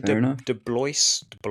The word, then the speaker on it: DeBlois: Is it Dean DeBlois? I don't know how you pronounce it. DeBlois.